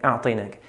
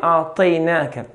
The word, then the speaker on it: أعطيناك: Whenever we have a letter with a fatha, any letter, and after that follows a ya with a sukun, we have to be very careful and pronounce the letter correctly with its fatha. Make the fatha clear and not in between fatha and kasra, which is very common. It's very common to hear a'tainaka.